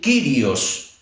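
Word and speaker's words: κύριος: Algunos dicen que se debería pronunciar Curios, pero la mayoría dice el Kyrios.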